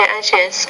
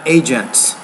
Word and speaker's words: agency: Because of the International Atomic Energy Agency, safeguards have serious. You want to say agency, not agents. So you're leaving out that last syllable.